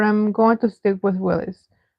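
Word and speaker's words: Willys: Bar says, "I found out recently that it's said like Willis, not Willis. I can't pronounce the difference." Sorry. It's supposed to be Willies, but I'm going to stick with Willis.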